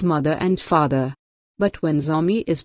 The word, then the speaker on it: Zo: group and feel that Zo should be pronounced correctly as Jo to bring out its literal meaning as the descendants of their progenitor.